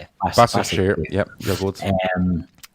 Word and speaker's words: Başakşehir: Başakşehir.